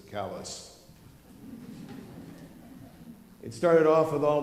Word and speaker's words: Calais: was our summer home south of Calais or as in Maine they pronounce it callus it started off with